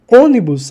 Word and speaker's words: ônibus: Coloca 1, 2 e 3. Ônibus, a sílaba tônica está no número 3. Logo, ela é uma proparoxítona.